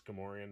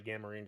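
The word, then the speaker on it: Gamorrean: as a kid like everyone always tells me i pronounce gamma-ray and wrong and it's gamorean but i've been calling out a gamma marine guard since i was a kid so it's just kind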